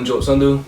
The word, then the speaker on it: Sandhu: so just to begin my name is uh sundu a lot of people know me as manny